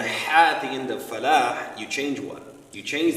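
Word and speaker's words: فلاح: Because the word is falah. Now when you don't pronounce the ha at the end of salah and the ha at the end of falah, you change what?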